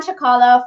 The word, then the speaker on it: Cicala: while, and he has never told me his name is pronounced Cicala, and so I've always just known him as Dr.